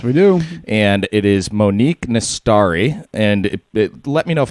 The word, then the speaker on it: Monique Nastari: guest today yes we do and it is Monique miss story and let me know if I'm pronouncing that correctly yes that is correct very